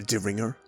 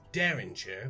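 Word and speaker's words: derringer: weapon what you mean the deringer it's pronounced daringer but yes daringer sorry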